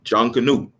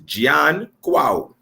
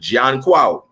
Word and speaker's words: Junkanoo: go back to him, his real name was Junkonoo. I had to learn how to say his name because I have this English colonial tongue in my head, but in the Twi language, it's Junkonoo.